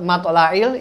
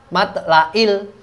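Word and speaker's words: مطلع: dilanjut tetep pada lafadz mathla'il ini ada huruf Ain biasanya teman-teman bacanya dengan huruf hamzah mathla'il gitulah kita harus dibenarkan pada kali ini kita harus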